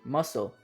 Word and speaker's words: muscle: get on with it first we have the word muscle this unlike some of the other words is pretty straightforward when it comes to useless letters here the c is silent next let's look at receipt